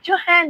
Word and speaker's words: John: You can call me Johan. That is the way I pronounce it here in Nigeria. But you can call me John if you're in any part of the world.